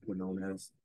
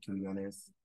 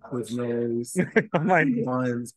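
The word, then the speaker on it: Quiñones: a Q, it'll be Quinones. Yeah. But if you're like Hispanic, everyone's gonna pronounce it with a K, like Quinones. Yeah. So, but a lot of people they slaughter. I done got called Quiznos, Quinones.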